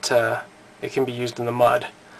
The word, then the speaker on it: Mudd: The reason it's called mud folder is, I guess, like metaphorically speaking, it can be used in the mud, even though it's spelled M-U-D-D, mud.